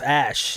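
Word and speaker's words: Æ: and then he's like that's pronounced ash in it yeah ash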